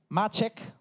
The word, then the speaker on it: Maciek: His name is Machek. He told me that there's the right pronunciation.